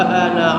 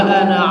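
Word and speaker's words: أنا: itu tulisan ana walaupun di situ panjang tapi bacanya pendek. Wa abduka wauka. Kenapa bisa demikian? Ya karena orang Arab bacanya pendek walaupun ada panjangnya itu, ada alifnya itu, tapi tulisan ana itu dibaca pendek. Contohnya ketika kita percakapan dengan orang Arab, ana. Bukan ana tapi ana. Jadi tulisan ana itu dibacanya pendek ya.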